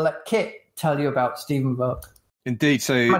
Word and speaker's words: Stephen Volk: We're here with the wonderful Stephen Volk, and I will let Kit tell you about Stephen Volk.